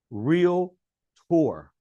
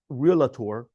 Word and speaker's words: realtor: I go yeah it's two syllables. Real tour. She goes, "Are you serious?" I go, "Yeah, it's no realator or reality. It's real poor."